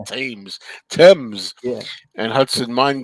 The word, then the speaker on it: Thames: Do you pronounce that Thames? The Thames and Hudson Mine Game? Thames probably. That Thames, Thames. as in the River Thames.